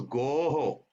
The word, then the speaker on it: goho: This is goho. Okay, you have to pronounce like go, ho. Just like this is ehe, this is oho, goho.